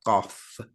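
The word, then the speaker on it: قاف: point in the future that's the letter cough sounds like cough q-a-f off say that yeah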